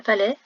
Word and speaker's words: palais: Le palais, c'est un mot qui possède une lettre muette à la fin, un S, qu'il soit au pluriel ou au singulier.